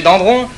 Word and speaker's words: Dendron: Tout récemment encore, on a découvert chez Roger Dandron, dont... Voilà, c'est d'un, hein? Oui, ça c'est écrit dans, mais on prononce d'un, hein? C'est pas grave, mais il faut le faire bien.